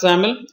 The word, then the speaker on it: XAML: Pronounced as XAML, it's a declarative XML-based language that is used to define an object and its properties.